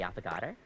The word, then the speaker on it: affogato: Is there anything you'd like to know about the affogato?